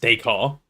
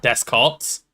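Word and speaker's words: Descartes: Why is this guy's name pronounced Decar? I was really upset when I found out it was not Descarts.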